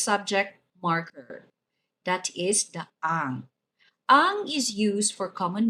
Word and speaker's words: ang: Si sounds like si in English, and ang has a nasalized sound with stress on the letter A, pronounced as ang.